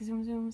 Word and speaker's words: Tsum Tsum: just the side note I realize I'm pronouncing it wrong I tend to say zoom zooms and my niece is always correcting me saying it's Zoom Zoom so yes sorry I